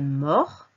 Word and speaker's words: mort: pluriel on dira aussi il est mort attention on ne prononce pas le thé il est mort où